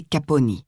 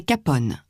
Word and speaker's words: Capone: Tout récemment, il faisait annoncer par la TSF que le E muet de son nom ne devait pas être prononcé et que par conséquent, il ne fallait pas le nommer Caponi, comme le faisait à tort le public, mais Capone, ainsi que nous prononçons ce nom en français.